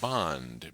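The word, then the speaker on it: bandh: In India, a general strike is known as a bond. B- A N DH uh to try and approximate the Hindi pronunciation in English spelling.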